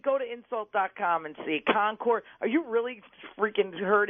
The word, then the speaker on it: Concord: live to, in- no, you have to learn to pronounce it. It's Concord. Concord. Yeah. Not F Concord. those New England jerky Kennedys. I'm saying it's Concord like the grapes.